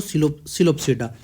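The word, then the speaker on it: Psilopsida: तो अब ये देखो, स्पैनोप्सिडा, टेरोप्सिडा और सिलोप्सिडा में पी साइलेंट है, ठीक है। टेरोप्सिडा इसको कैसे बोलेंगे, टेरोप्सिडा, इसको सिलोप्सिडा। इसके एग्जांपल है इक्विसिटम। पहला देखो, स्पैनोप्सिडा, टेरोप्सिडा, सिलोप्सिडा, लिकोप्सिडा, ऐसे। ये पी साइलेंट है, इसीलिए इसको ऐसे हमने पढ़ना है।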